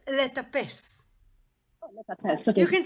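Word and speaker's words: לטפס: No, not litfos. Letapes.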